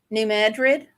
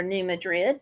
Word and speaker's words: New Madrid: Mystery Lake, Operation Rain Tree, New Madrid, or New Madrid, depending on how you want to pronounce that.